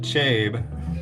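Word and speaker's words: cabe: i really really like it's called chabey but you can call it chebe but i call it chabe it's from indonesia but uh so that would make sense that it would be pronounced chabe come on chubby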